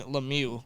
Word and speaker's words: Lemieux: I think it's Lemieux I think it's like the Penguins legend Mario Lemieux yes so now that they're not related I thought they were they're not they are pronounced the same Shane Lemieux similar to Mario Lemieux but yeah that's his